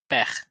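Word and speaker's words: père: Ini tulisannya P-E-R-E, dibacanya peh. Eh, kenapa? Misalkan ini E kok di akhir tapi nggak dibaca, karena memang kalau di bahasa Prancis nggak semua yang ada E-nya di akhir dibaca.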